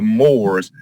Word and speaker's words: Moors: But there was a group of people called the Moors. Is that right, sir? Am I pronouncing that name correctly? Yes, sir. There were a group of people called the Moors, and the question I have here is, were